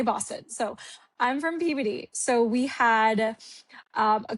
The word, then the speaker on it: Peabody: So, I'm from Peabody, Massachusetts. Um not puberty as some people think it's pronounced cuz they're like, "Where are you from?" So, I always say Boston. So, I'm from Peabody.